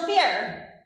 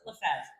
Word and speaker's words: Lefevre: Did I say it right? No, not at all, but nobody does. Rachelle is right. You were close. Lefevre. I always tell people that if you ignore the R, just Rachelle Leverve.